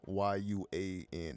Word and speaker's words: yuan: Or the yuan, Y-U-A-N, the yuan, the Chinese yuan, I believe is pronounced.